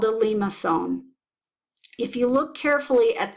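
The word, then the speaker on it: limaçon: here in the center it has a small mark at the bottom which means that when pronounced that C is pronounced like an S perhaps one of the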